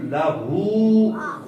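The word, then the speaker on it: له: تو اس کا درست تلفظ ہے ولم یکن لہ، ہو کو لمبا کرنا ہے.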